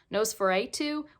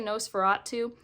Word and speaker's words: NOS4A2: And the last one I'll talk about for horror is Nosferatu, or sometimes I hear people say Nosferatu. I don't know. I think it's a license plate, so I don't think you can say it wrong.